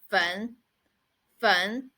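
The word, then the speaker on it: 焚: it so it means a burn and the pronunciation of it is fun fun so let's write the words together so the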